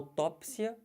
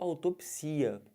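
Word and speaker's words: autópsia: o duplex ou duplex aqui ao tópsia ou autopsia Os dois estão corretos são tópsia ou autopsia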